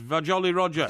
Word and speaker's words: Vajolly Roger: I didn't realise it's Jolly Roger with VA on the front. I know. It's Vajolly Roger. Yes, I know. You know, that's how you pronounce it, okay, if anyone wants to know.